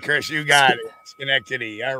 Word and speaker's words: Schenectady: That's Schenectady. Yeah. Schenectady. That's right, Chris. You got it. Schenectady.